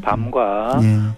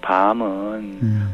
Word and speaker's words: 밤: 짧은 것으로 뜻을 구별합니다 깜깜한 밤과 먹는 밤은 발음의 길이가 다르죠 밤에 밤을 먹는다 그렇죠